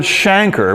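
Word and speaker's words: chancre: a now i used to call that a canker but that's not right a canker is a more general term for a sore the word shanker which is the correct pronunciation is reserved for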